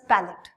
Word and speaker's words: palate: This is known as palate. Our spelling is palate. Palate. इसकी spelling is this, pronunciation is palate.